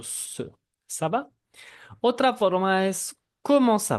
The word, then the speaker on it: ça va: Como dijimos, tenemos el saudance, si ven una ced esa pequeña cosa que está abajo de la letra C, tenemos que pronunciar el sonido ça va.